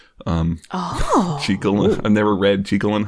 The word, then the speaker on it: Jekyll: Sorry, that's the thing, they pronounce it Jekyll. Jekyll.